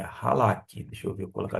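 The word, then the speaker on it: חלק: De modo que a palavra, em termos de transliteração, é esta mesmo, halak, que significa dividido, ok? É halak.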